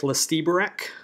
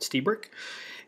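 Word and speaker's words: Lstiburek: Looks like Lestiebrick. It's not. He pronounces it Stiebrick.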